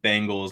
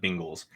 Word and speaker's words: Bengals: B-E, not B-I. Bengals, not Bengals.